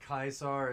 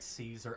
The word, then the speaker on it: Caesar: The funniest thing to me is that Kaisar is actually the correct way to say it, but even Joshua says it like Caesar.